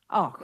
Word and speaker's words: Auch: Am I pronouncing your name properly, Miss Och? It's Auch Och is the right okay, way, thank but you. Auch is how Canadians say it.